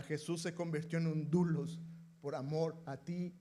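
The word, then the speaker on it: δοῦλος: eh a Pablo, siervo de Jesucristo, pero esta palabra siervo es una palabra que eh en griego es dulos. Así se pronunciaría, dulos.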